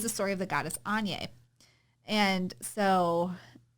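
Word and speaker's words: Áine: And so, I think Anya, I used to have a student whose name was Anya, and she pronounced it, or she spelled it A-I-N-E. I think it's Anya, but she pronounced it Anya. So anyway, I think it's Anya, though, the goddess.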